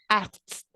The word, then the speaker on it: asked: Está un poco difícil porque es como decir la ed, pero tan corta que suena T.